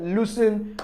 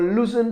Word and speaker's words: loose: So I'm not saying the first one is s, and the other one is z.